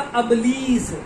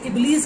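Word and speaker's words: إبليس: फिर इन्होंने कहा अबलीस, और इनको अबलीस यानी इबलीस का नाम भी नहीं आ रहा सही तरह से प्रोनाउंस करना, और ये कुरान मजीद के ऊपर गुफ्तगू कर रहे हैं।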